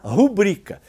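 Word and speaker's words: rubrica: o erro na acentuação a mais famosa é a rubrika que uns pronunciam em corretamente pública ou Nobel que alguns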